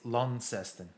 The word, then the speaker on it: Launceston: Launceston. That's the way I usually say it. Really? Okay. No, of course not. At least know the C's soft. So the correct pronunciation is Launceston. Lon. Launceston.